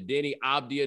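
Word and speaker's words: Deni Avdija: and he's trying to pass the ball to Denny Abdia.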